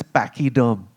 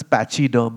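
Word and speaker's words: pachyderm: But this particular uh you know it's quite interesting because you know one of the words for elephant is pachy derm which some people mispronounce as patchy derm.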